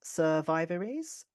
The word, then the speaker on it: survivories: French for garden centre, is pronounced survivories, where vi rhymes with by.